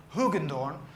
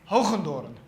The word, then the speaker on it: Hoogendoorn: try to pronounce - in in English you would probably say Hogan dawn and in Dutch because I'm Dutch we say Hoku daughter which is a horrible sound in English I know that sound doesn't